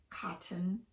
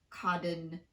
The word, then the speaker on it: cotton: For these, we use a glottal stop in place of the T, and that's a topic for a whole other video. If you have trouble using the glottal stop, it's safe to just fully pronounce the T. So it's fine to say cotton, certain, written, and gotten, but not codden, certain, ridden, or godden.